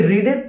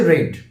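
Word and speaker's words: read: ই এডি এর প্রান্সিয়েশন টা কি হবে একচুয়ালি রিডের তিনটে ফর্ম কিন্তু বানান একই থাকে প্রান্সিয়েশনটা একটু আলাদা হয়ে যায় ফাস্ট ফর্ম হচ্ছে রিড সেকেন্ডটা হচ্ছে রেড বানান কিন্তু চেঞ্জ হয় না থার্ড হচ্ছে রেড তো এখানে কিন্তু হ্যাভ এর পরে আছে মানে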